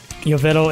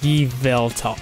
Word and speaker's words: Yveltal: And you know, when I very first started GaMetal, Yovetal is pronounced Yveltal.